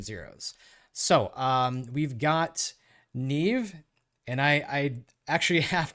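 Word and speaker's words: Niamh: I had to look this up how to pronounce it because I was definitely getting it wrong in my head it's not neam it's Neeve uh I'm not not Irish I think I'm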